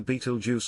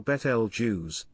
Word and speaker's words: Betelgeuse: Beetlejuice, often pronounced as either Beetlejuice or Betel Jews, is one of the most well-known stars in the night sky.